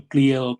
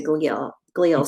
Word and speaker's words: glia: Is glia the right pronunciation for it? Yeah, most people actually refer to it as glia, but there is no right or wrong.